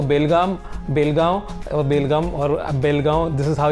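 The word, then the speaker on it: Belgaum: जब मैंने सोचा कि जोई ऑन द वे जाने के टाइम हम लोग ऑन द वे रुक जाएंगे, तो बेलगाम this is हाउ you pronounce it, तो that was ऑन द वे।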